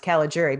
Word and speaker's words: Caligiuri: c-a-l-i-g-i-u-r-i and uh and it's pronounced cala jury because we went over